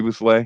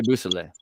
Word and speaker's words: Beausoleil: How do you say his name? You know what I'm saying? Bobby Beausoleil. Bobby Beausoleil. Is that it? Okay, thank you.